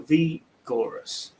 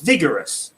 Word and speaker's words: vigorous: is it vigorous or v gorus so it's vigorous vic uh with a it short yeah you might expect the eye to be long but it isn't it's short and this